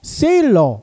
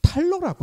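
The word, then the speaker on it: Thaler: 이게 뭐냐면요, 세일러 이 교수님이요, 미국에서 태어났지만 독일계라는 거예요. 그래서 이 세일러가요, 독일식 발음으로 하면 탈러라고 합니다.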